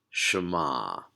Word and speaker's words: Shema: to kind of listen up and it is pronounced Shema so the first syllable is sure everyone see